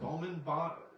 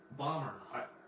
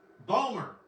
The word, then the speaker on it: Bomer: Matt Bonner, I think, Bowman, what is it, Bowman? Bomer, who voiced Superman in Superman Unbound. How do you pronounce it? Hello? Bomber. Okay. Bomer.